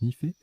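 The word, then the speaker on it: NIFE: N-I-F-E se prononce Nifé. N-I pour nickel et F-E pour fer.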